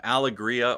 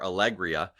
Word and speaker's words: Alegria: We're going to talk about some, depending on how you say it, some Alegria or Alegria today.